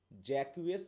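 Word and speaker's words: Jaques: brother two অরলান্ড Oliver তার নাম হচ্ছে জ্যাকউএস কেউ বলে কেউ বলে জ্যাক্স এখন যেটাই তুমি মনে রাখ উচ্চারণ কর ঠিক আছে তো তিন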